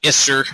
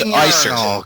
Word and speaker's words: Iser: It's not Isser or Pisser or anything. It's Iser.